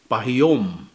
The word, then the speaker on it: pahiyum: The Cebuano intonation is a little bit harder than Tagalog.